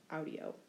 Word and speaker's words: audio: principal part, I hear, there's a short I before the O, audio.